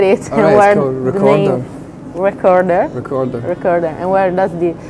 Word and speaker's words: Wreckorder: know before I get wrong how do you pronunciate it Rec recorder recorder recorder and where does the the name come